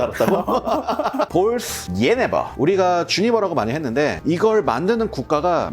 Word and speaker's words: Genever: 알려 주셨거든요지 아니었잖아 어 네덜란드 벨기에에서는 예네 독일에서는 제니바 프랑스에서는 네버 그러더라고 그런데 이제 이게 어떻게 보면 네덜란드가 원조가 네덜란드 식으로 앞으로 발음을 할게 얘네로이 얘네의 역사는 좀